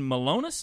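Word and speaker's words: Milonas: Black, Beer City Bruiser, Brian Malonis is how you say that.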